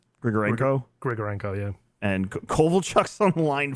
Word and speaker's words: Grigorenko: Grigorenko, yeah.